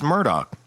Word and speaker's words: Murdaugh: It's Murdoch. They were saying like Murdoch. Yeah. And and Alec does too. Alec hits the K in there. Murdoch.